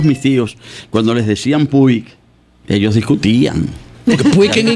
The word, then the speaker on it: Puig: Se pronuncia, en catalán se pronuncia Puig. Puig.